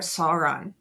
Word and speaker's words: Sauron: It's like the eye of Sauron.